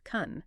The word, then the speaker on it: כֵּן: In English transliteration, it is just three letters, K E N, pronounced "kun".